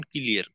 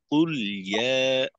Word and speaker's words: قل يا: আর লামের তাওয়াসসুদকে স্পষ্ট করে আপনার জজমের উচ্চারণ ক্লিয়ার। কুল ইয়া, কুল ইয়া। একটু ফিরতি আওয়াজ থাকলে অনেক সময় কুলিয়া, কুলিয়া আংশিক লামে জেরের উচ্চারণ হয়ে যাওয়ার একটা সম্ভাবনা। তো এটাকে ক্লিয়ার রাখতে হবে।